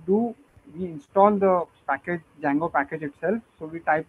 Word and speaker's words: Django: spellings are correct uh Django starts with a D and it is pronounced as Django not dijango just for your information